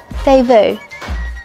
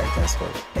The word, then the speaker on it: DÈS VU: But it does bug me a bit when people say Desvu, but I also realised that if I didn't know it's called Devu, I'd probably say Desvu.